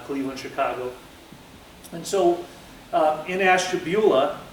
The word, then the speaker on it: Ashtabula: crowd and see if anybody knew how to pronounce the town that I'm from, Ashtabula, Ohio.